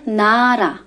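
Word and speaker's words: 나라: محکم تلفظ بکنن و وسط کلمه میاد صدای ر داره قطعاً صدای ر داره مثل کلمه نره نره به معنی کشور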